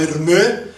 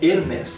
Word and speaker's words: Hermès: Porque eu pensava assim, Hermès, porque o S é silence, o S é mudo no final, né? Mas aí não, nome próprio pode ter S, não tem jeito. Então eu falava Hermès, ó que burro, mas é Hermès, tá?